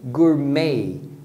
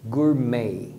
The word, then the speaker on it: gourmet: balé quando era criança a mesma coisa acontece com gourmet gourmet vendo francês nós pronunciamos como Gourmet com esse e final fechado mas inglês eles vão pronunciar com o som de Ei então é Gourmet o Gourmet Make of